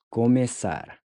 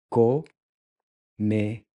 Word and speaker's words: começar: Começar. Começar. Começar. Começar to start. So this interesting looking C symbol is pronounced like an S.